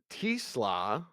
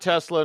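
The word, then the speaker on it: TeSlaa: Isaac Tisla, I think I pronounced that right. It's not Tesla.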